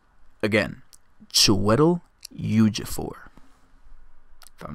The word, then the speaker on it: Chiwetel Ejiofor: Chiwetel Ejiofor. Chiwetel Ejiofor. Again, Chiwetel Ejiofor. If I'm not mistaken, that's how you pronounce their names.